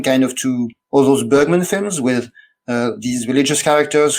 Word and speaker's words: Bergman: is quite different from Bergman, or Bergman, before the Swedish pronunciation police gets me.